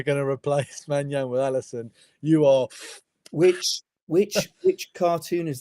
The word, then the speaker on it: Alisson: Alisson.